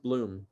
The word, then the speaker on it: Blum: I've learned my last name is pronounced Bloom, but it's spelled Blum, so people see it as Blum. Oh, okay. So I've learned to roll with people calling me Blum.